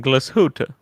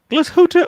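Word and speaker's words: Glashütte: thing about lange is hearing tim pronounce where they're made in uh glasgow it's manufactured in glasgoota glashutta original now that is a now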